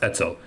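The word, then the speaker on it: Etzel: as Urugun, or by its Hebrew acronym pronounced pronounced etsel, national military organization.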